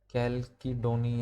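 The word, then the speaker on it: chalcedony: ठीक है, अब ये टूल का जो मटेरियल होता था फ्लिंट, जस्पर, है ना, कैलिडोनी, है ना, इसका प्रोनाउंसिएशन आप और कुछ भी कर सकते हैं बट इसको याद रख लेंगे, कैलकीडोनी, इस तरीके से कुछ भी ये मिले हैं।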